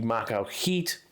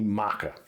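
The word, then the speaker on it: macuahuitl: stats for is the macho heat which matt calls the maca and by the way i looked it up and the l at the end is silent so the macro heat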